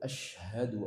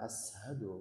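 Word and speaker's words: أشهد: Kemudian tadi Bapak tadi asyhadu alla pakai sya. Asyhadu bukan ashadu, beda. Asyhadu. Sin besar itu.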